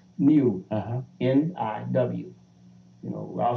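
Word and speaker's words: niw: How's that pronounced? Niu.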